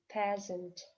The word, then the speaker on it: peasant: Peasant, peasant. Буква С дает звук З, а буква А дает звук шва, то есть практически отсутствие звука, да? Peasant, peasant.